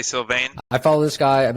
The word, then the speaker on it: Sylvain: How do you pronounce that, Jaime? Sylvain? Sylvain. Sure. So I'd say Sylvain.